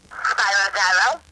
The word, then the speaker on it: Gyro: Spelled out on their menu, euro. Euro. Yeah. But it's Spiro Pronounced Gyro. gyro.